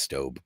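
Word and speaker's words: Staub: of that is I I've called it stab my whole life and apparently it's stob but the one with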